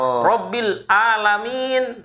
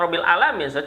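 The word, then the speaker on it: رب العالمين: dengan Ain kan itu rbil alamin Nah itu kan bukan rabbil alaminnya rbil Ain kan Nah itu itu di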